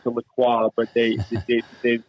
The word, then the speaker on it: LaCroix: i always pronounce the lacroix but they they they've americanized it and they they pronounce it with kroy but you know i